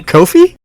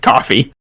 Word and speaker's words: Kofi: what I'm saying like it's not pronounced coffee so wait what dude